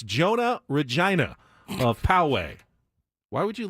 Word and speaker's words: Regina: tourism slogan it was Regina Canada the city that rhymes with fun clever give that to